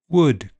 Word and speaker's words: would: Elf selves health Welsh help bulb bolt sold milk belch bulge kiln film and L is silent in some words calm palm Arm salmon half chalk talk walk folk yoke would could kernel.